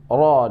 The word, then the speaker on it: ro: Cara membacanya ro, rori, rori, rubar. Jangan terlalu gedar ya. Jangan rori, rubar. Jangan seperti itu. Tapi getarnya itu di ujung lidah saja.